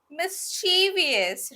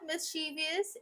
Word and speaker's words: mischievous: see the next word mischievous right but it's not mischievous it's mischievous mischevous next is controller but